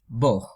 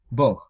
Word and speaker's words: бог: So oftentimes, Bog, which is God, pronounced as Bog. Like G becomes H, Bog.